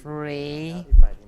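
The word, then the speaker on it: 蕊: You pronounce it Ray. The Beijing accent would be rolling tongue Ray.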